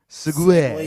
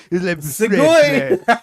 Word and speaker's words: segue: Segue. Yeah. Segway. It's like Segway.